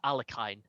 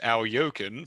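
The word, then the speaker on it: Alekhine: That is definitely not how his name's pronounced, but hey, he will forgive me. Maybe. Technically, I have a note, technically pronounced Al Yokin, but please be Al extremely generous.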